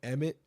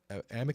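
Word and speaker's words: Amite: and Southeastern Mississippi Northwestern emit emit or emit County Amit County I think that's how you say it Amit County and Southeastern Mississippi until 315 p.m.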